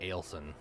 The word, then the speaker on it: Ailton: The way that they're saying it is like it's spelled A-L-E, Ailton.